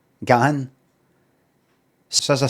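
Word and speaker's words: Dave Gahan: Um and there's Dave Gan. That's how you say his name. G A Hen Gan. Gan.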